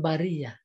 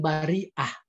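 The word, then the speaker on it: البرية: kan ayatnya Khairul Bariyah ada yang membaca bukan Khairul Bariyah Khairul Bariah itu dia yang dimaksud bagi mereka yang membacanya Bariah itu menunjukkan bahwa bukan manusia tetapi makhluk maka Khairul Bariyah itu sebaik-baik makhluk bukan sebaik-baik manusia Bagaimana dengan malaikat satu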